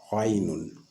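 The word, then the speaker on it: غين: Pour le Ghainun, vous graisez davantage la lecture la prononciation du Ain. Donc, vous graisez la prononciation du Ain pour avoir le Ghain.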